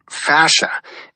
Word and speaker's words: fascia: You pronounce it fascia.